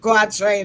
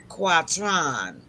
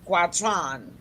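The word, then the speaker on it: quatrain: French okay that's s quatron pronouncing in the French style all right then so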